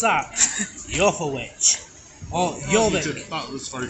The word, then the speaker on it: Jorvik: We're here at Jorvik Viking Centre with this fine gentleman.